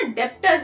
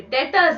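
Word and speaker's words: debtors: पहले तो हमें ये समझना है, ये जो डेटर्स होते हैं, लोग इसको ना डेप्टर्स बोलते हैं। डेप्टर्स नहीं है, बी साइलेंट है यहाँ पे, डेटर्स है इसको।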